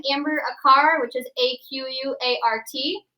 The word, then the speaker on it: Aquart: All you need to do is type in my name, Amber Aquart, which is A-Q-U-A-R-T. It's spelled like a quart, but it's Aquart.